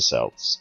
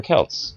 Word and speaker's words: Celts: and say that's probably the Celts or the Celts depending on how you pronounce it and while normally those are issues that I would care about deeply in this specific example I consider both to be acceptable pronunciations and will not judge